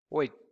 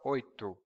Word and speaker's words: oito: Oito, oito, or oito, oito. Both are okay.